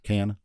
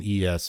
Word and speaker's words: Cannes: Cannes. Is it? Cannes. But That's Cannes. The French don't pronounce like the last letters in a lot of things, so I think it's like Con or Can.